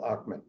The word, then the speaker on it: Ochman: say i want to reach someone like ackman am i pronouncing your name right yes you are okay